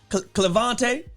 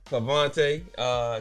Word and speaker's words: Clevante: Cleover. And That's. somebody being disrespectful. That's a whole extra syllable. is the main one I hear though. They forget the L.